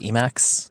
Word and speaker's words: Emacs: thinking about what's going on as well it's e-max it'll work right now we figure out we